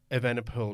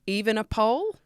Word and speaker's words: Evenepoel: Not just the Europeans in trouble, but Evenepoel. I heard that a lot too. Evenepoel. Evenepoel. No, he's not a pole. He's not, definitely He's not even a pole.